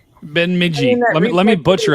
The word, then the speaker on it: Bemidji: Even the reflectivity right now over by that, I forgot how we said we were supposed to pronounce it. just say it. Bemidji. Bemidji.